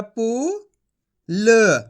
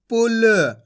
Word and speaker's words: पुल: का उच्चारण करना है देखो किस तरीके से पा में छोट की मात्रा पु ल तो मिलके बन जाएगा पुल कैसे पढ़ेंगे पुल खच के नहीं पढ़ेंगे